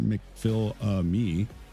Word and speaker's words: McPhillamy: And then you come up to sectors 2, which you got the Cutting, Reed Park, McPhillamy Park, pronounced McPhil-me, and then Skyline.